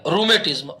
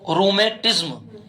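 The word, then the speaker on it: rheumatism: गठिया नहीं गठिया ग ग गाय वाला गठिया रूमेटिज्म आर एच ई यू आर एच ई यू एम ए टी आई एस एम जिसका उच्चारण नहीं है उसका उच्चारण साथ में लिखो रूमेटिज्म इसे कहा जाता है रूमेट रूमेट मतलब गठिया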